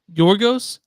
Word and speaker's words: Yorgos: correctly yorgos what how do you say it yorgos Lanos Yos Yos Lanos Lanos good job that's